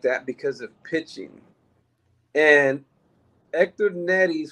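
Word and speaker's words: Héctor Neris: And Hector Neris, which is the correct way to pronounce his name, regardless of how everybody pronounces it.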